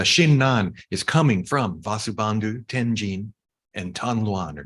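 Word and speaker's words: 天親: And Vasubandhu, his name in Chinese with the Japanese pronunciation is Tenjin.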